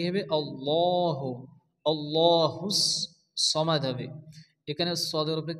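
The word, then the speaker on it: صمد: আসছে সদ জবর স হবে সা অনেকে আছে সামাদ পড়ে সামাদ পড়া যাবে না কারণ আমরা জানি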